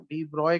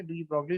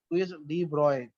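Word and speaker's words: de Broglie: ये जो लुइस डी ब्रॉगे है ना, डी ब्रॉय कहते हैं इसको बेसिकली, जो प्रोनाउंस करते हैं ना, डी ब्रॉगली लिखा हुआ है ना, तो इसको जी कहते हैं लुइस डी ब्रॉय, जो प्रोनाउंसिएशन है ब्रॉय है.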